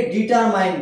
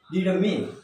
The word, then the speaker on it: determine: ওকে, আমরা এটাকে ডিটারমাইন বলি। DETERMINE, আমরা এটাকে ডিটারমাইন বলি, কিন্তু এর উচ্চারণ হবে ডিটারমিন। ডিটারমাইন না, ডিটারমিন। ওকে, MIN, মাইন না, মিন। লাস্টে ই আমরা উচ্চারণ করছি না।